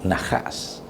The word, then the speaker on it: Najás: que significa el mal najas y n a h a SV a la verdad en la serpiente Nosotros también lo escribimos por la pronunciación con la J verdad n aj asnajas verdad Pero el sentido